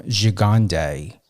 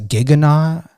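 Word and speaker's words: Gigandet: when I interviewed Cam Gigande, it was pronunciated on some of his interviews as Giganet. I even Googled how to pronunciate his last name. And it came up Gigande, but when I interviewed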